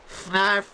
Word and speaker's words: Fnarf: Fnarf rhymes with barf.